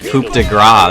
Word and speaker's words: Coup de Grâce: Also known as the Coup de Grâce, that's how you say it.